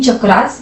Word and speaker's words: चक्र: पर अंग्रेजी बोलने वाले लोग चक्र को अक्सर चक्र बोलते हैं क्योंकि वे अंग्रेजी प्रोनाउंसिएशन रूल्स के अनुसार शब्दों को पढ़ते हैं। असल में संस्कृत या हिंदी में हम चक्र बोलते हैं।